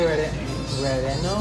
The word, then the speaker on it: relleno: Can I get chili relleno? How do you pronounce that?